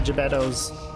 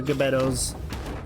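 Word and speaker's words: Gbeto: full clown supported by gibettos or gabettos how do you say gabetto or gibetto okay not not like Pinocchio's dad Geppetto exactly Sebastian's taking full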